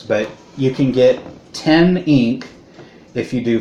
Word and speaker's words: XNK: No, but instead of using American currency, it uses ink, which is XNK, but somehow pronounced ink.